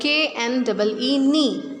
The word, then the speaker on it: knee: Silent के means in this word KNEE, knee means घुटना. In this word K is written on the very first place, but we do not pronounce K.